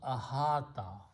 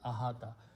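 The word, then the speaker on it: أحاط: Waw with a fatha becomes the sound of alif, and we pronounce ahata. We also pronounce this as this ahata.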